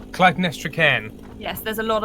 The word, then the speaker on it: Clytemnestra: How do you pronounce Annie's character's name? Clytemnestra Cairn.